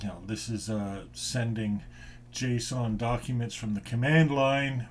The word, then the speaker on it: JSON: as far as json i always call it jason but i guess the pronunciation is json and one of the